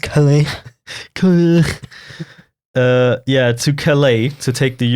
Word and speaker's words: Calais: I don't know how to say that. Calais. I thought you were gonna like. I'm gonna give you some the really perfect insightful information. Yeah. Oh, actually, it's pronounced Calais.